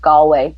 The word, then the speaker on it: Galway: It's actually pronounced Galway.